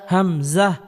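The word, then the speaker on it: همزة: ওয়াও ওয়াও ওয়াও ওয়াও হা হা একেবারে নরম করে উচ্চারণ করতে হবে। হা হা হা হা হামজা হামজা হামজা হামজা হামজা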